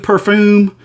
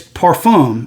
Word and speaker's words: parfum: just talk like that look that's how you pronounce it it's not it's not edu perfume or perfume it's perfume if you can see it p-a-r-f-u-m now i'm